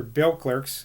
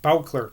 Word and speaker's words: Beauclerk: Beauclerk's house in the country, yes, I'm pronouncing it Beauclerk today, not Beauclerk, same person though, when two large dogs